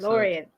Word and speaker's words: DeLorean: in Oh, in the DeLorean? last one, that was me. Yeah, I said duh. Okay. DeLorean. DeLorean. In the English word. It's an unaccented syllable, so the vowel becomes a schwa.